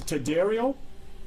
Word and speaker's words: Tadarial: Before you leave, could you please restate your name and spell it in full title? Sure. It is Tadarial, T-A-D-A-R-I-A-L, last name, Senior Vice President of Emergency and Support Services and Operations.